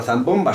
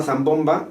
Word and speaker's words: zambomba: de sevilla usando la zambomba que diga zambomba o diga zambomba vale si dice la zambomba zambomba acento en la o la niña